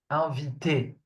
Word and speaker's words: inviter: And when a verb ends with ER, it's pronounced E. Invité.